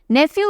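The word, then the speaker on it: Neiphiu: लिए सीएम बने हैं नेफ्यू रियो नेफ्यू भतीजे के लिए भांजे के लिए बोलते हैं ना नेफ्यू यूज किया जाता है ना तो स्पेलिंग अलग है पर प्रोनंसिएशन सेम है नेफ्यू क्यों रोया नाग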